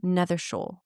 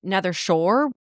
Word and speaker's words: Nethershaw: S H A W because listening to Partida read it, Nethershaw. Never seeing it written down, I thought it was Nether Shore.